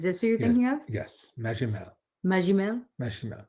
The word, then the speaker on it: Magimel: Magimel. Magimel? Benoit Magimel. A soft G.